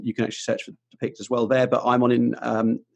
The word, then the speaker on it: Depiqd: So we've got website, and people will wonder how we spell it, but we're saying Depiqd.